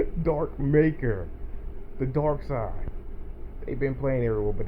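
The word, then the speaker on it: Darkseid: call him his name's dark side but it's spelled like dark seed like a seed like in the plant dark seed but it's supposed to be dark side show this one too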